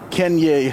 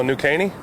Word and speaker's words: New Caney: Let's start with Kenye High School. Whew. Did I pronounce it right? No, New Caney?